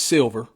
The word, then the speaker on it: $ilver: But yeah, his name is Silver. And Silver is spelled with a $, not a regular S.